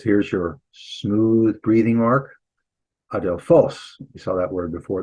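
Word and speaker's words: ἀδελφός: adelphos. You saw that word before. It means brother, by the way. The accent here on the last syllable.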